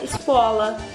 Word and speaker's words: scuola: Então, por exemplo, escola em italiano fica scuola. Então, vocês meio que muda esse S, deixa ele mudo.